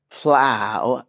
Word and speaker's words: plow: frustration professor and lastly plow rhymes with cow plow rhymes with cow